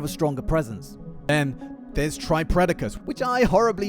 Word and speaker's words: Tripredacus: Then there's Tripredacus, which I horribly mispronounced as Tripredacus in my other combiner vid, and boy did the comments let me know about it.